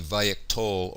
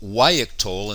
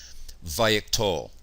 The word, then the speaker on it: vayiktol: The name vayiktol, also called wayiktol in some grammars, comes from the paradigm root katal, and this is how we pronounce the vav consecutive imperfect of katal, vayiktol.